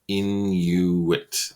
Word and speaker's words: Inuit: known as the Inuit you say in you wit whenever they do this